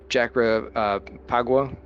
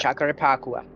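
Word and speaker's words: Jacarepaguá: We're going to have a test race next week at Jacarapagua. I butchered that. Jacarapagua.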